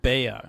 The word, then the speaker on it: Bea: It's pronounced Bea. Okay, there we go. Because it's short for Beatrice.